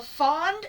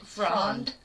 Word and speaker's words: Fronde: Fronde. Yeah. Oh, I forgot the R in it. Yep. That's why I was saying it wrong.